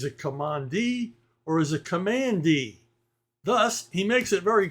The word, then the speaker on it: Kamandi: Therefore, it is not Commandi, it's Commandi.